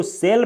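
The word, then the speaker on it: shell: सेल, इसको सेल पढ़ा जाता है। इसमें CH का SH का उच्चारण स होता है।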